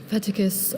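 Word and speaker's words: fetticus: Feticus. Are there any alternate pronunciations?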